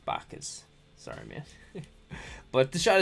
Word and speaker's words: Bacchus: so this is um bakas nutty bakkas i like bakers all right i'll say it right bacchus sorry man but the